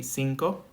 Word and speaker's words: cinco: 5 would be cinco. CI like city, cinco.